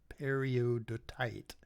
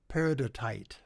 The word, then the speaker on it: peridotite: the upper surface um is peridot peridotite periodotite no peridotite god i i googled the pronunciation of this and then i blew it